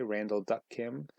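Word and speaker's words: Randall Duk Kim: character uh let's see the actor's name is randall duck kim i believe that's his middle name it's pronounced right way randall duck kim he plays daschle kim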